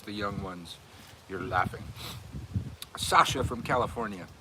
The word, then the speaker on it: Sasha: Sasha from California. I think that's still pronounced Sasha, like my kid, right?